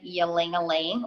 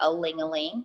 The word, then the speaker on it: ylang-ylang: I'm using peppermint and ylang-ylang or a-ling-a-ling, depending on how you'd like to pronounce it.